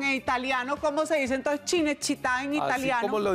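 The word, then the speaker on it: Cinecittà: chine chit Dinamarca no chine chit es son los grandes estudios de cine en Roma it pero es que el problema no fui yo el problema Fuiste tú porque eso se pronuncia ch que la ciudad del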